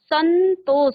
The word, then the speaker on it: संतोष: संतोष स के बाद आपने न कहा। सन आधा न संतोष।